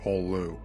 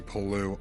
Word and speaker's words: Pollux: At least I assume you're supposed to pronounce his name the French way. It's spelled Alexis Pollux. I just assumed the extra consonants made him French, or Space French equivalent.